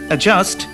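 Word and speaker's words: adjust: ডি এর পরে জি বা জে থাকলে ডি এর উচ্চারণ হয় না।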